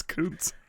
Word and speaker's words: Kuntz: Is that how you say his name? Kuntz, yeah. it's Kuntz.